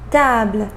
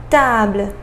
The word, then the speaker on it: table: So final E, we didn't pronounce it, right? We pronounced just the consonant before that final E, right?